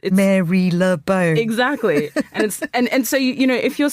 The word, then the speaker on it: Marylebone: Even the place we're in now, like, you spelt like Marylebone. Yeah. It's Marylebone.